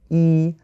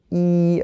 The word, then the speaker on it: 一: But if you have the word "一" alone, it's first tone.